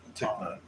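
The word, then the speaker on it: Thích Nhất Hạnh: His name is pronounced. Ticknot.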